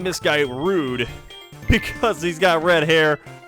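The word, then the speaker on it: rood: up in a uh in dutch the color red is pronounced rude at least if i was pronounced in english i don't know if that's actually how you would say it but it's spelled r double o d so we're gonna name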